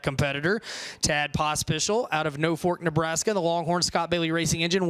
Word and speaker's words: Norfolk: that beat Norfolk but for Nebraska it's pronounced no Fork no Fork Nebraska confused